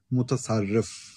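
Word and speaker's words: mutasarrif: Uh mut sharifs. Is that what they call the uh the governors? How's it how do you pronounce it? Mutasarif. Mutasarif.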